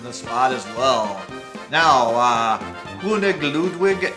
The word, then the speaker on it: König Ludwig: Now, König Ludwig is the German way to say King Ludwig. I probably pronounced that pretty horribly.